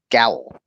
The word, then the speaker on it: Gowell: So Gowell says it's pronounced like towel with a G. So Gowell, basically.